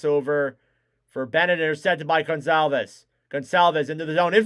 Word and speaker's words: Goncalves: Picked up then by Goncalves. Gonzalez. That's how you say it.